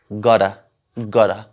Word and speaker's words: gotta: इसी तरह और अल्फाज है, कंप्यूटर, कंप्यूटर, और तो इसको प्रोनाउंस कर रहे हैं एज गडा, गडा.